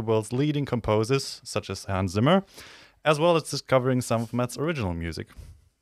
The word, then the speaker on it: Hans Zimmer: Should I pronounce it right? Oh, and you're German. It's Hans Zimmer.